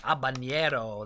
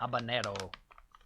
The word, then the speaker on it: habanero: Habanero. That's not how you say it. Habanero. Habanero.